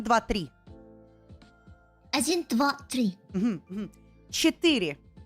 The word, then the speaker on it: четыре: Четыре. Четыре. Like ethereal? Oh, that's good. Yeah, kind of like ethereal.